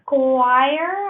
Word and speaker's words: Squire: associated with the date of the exam Cindy Squire I apologize to find this pronounce your last name I'm going to unmute